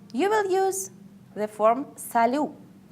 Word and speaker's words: salut: If you want to greet somebody in an informal way, you will use the form salut. I would like to pay your attention that T at the end is not pronounced.